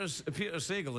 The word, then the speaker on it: Sagal: Peter Sagal is Sagal.